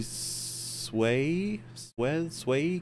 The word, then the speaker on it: Suez: Well, little buddy, our hilariously phallic route has led us to crash the ship into the Suez Canal, blocking 12. Oh, wait, how is that pronounced?